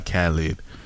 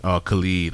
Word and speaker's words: Khalid: American Teen by Khalid. And Khalid, I should say. His name is spelled like Khalid though, so I be saying Khalid.